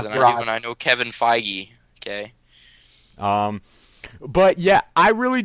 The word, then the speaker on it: Feige: No, it's Feige. What is it? How is it pronounced? Feige. It's Feige.